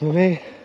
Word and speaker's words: Mame: That's pronounced Mame, like your grandma was into holiday memes.